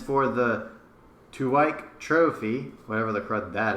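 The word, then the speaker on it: Tuwaiq: And it's for the Tuwaik Trophy, whatever the crud that is. What? The Tuwaik Trophy. It's a Middle Eastern Tuwaig. Okay, it's pronounced Tuwaik.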